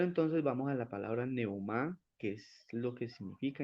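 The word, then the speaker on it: πνεῦμα: en el interlineal griego la palabra espíritu se pronuncia de la siguiente manera palabra espíritu se pronuncia neumá la pronunciación es neumá neuma tiene una derivación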